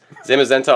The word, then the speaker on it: Zamazenta: look at the steelbook first so this is zamazenta but I'm pronouncing that wrong how do you pronounce his name no that's right nice this is zamazenta on the other side we have zian and